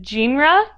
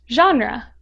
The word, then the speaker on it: genre: it is actually pronounced genre it may seem a little odd but it is pronounced this way because it comes from the French word spelled and pronounced the same way genre in French it